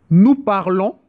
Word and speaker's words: parlons: Nous parlons. Nous parlons. O N it read on. And you don't pronounce the S.